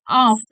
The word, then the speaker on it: of: Many folk make the mistake, even though the verb of is spelled with an F. People now the word of with a V. I know the sound is crazy, but it's true.